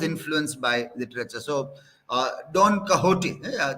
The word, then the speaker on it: Don Quixote: by literature so uh don kahoti this this word also you can see how it is pronounced it is written as Don kickstarty Spanish word Don kahoti because of slow net